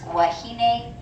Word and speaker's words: wahine: If the W's at the beginning of the word, it will be a W sound. So this is wahine and waikiki.